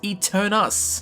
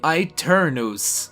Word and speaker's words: Aeternus: would have called this e turnus but no it is actually an Italian word derived from a Latin word which is exactly the same and pronounced really strangely I turn those so yeah if you